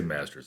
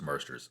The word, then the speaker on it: Marsters: Marsters? I just want to say Masters. I'm pretty sure it's Marsters. I'm pretty sure I always say it wrong.